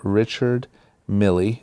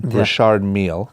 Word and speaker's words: Richard Mille: He wore, during the game, a $250,000 Richard Mille, that's probably the hip-hop pronunciation, Richard Mille watch.